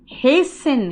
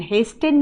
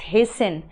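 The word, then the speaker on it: hasten: हेसन, हेस्टेन नहीं बोलना, T silent होता है, इट्स हेसन। और याद रखना, अगर टू दिखे और उसके बाद वर्ब चाहिए तो वर्ब का बेस फॉर्म चाहिए।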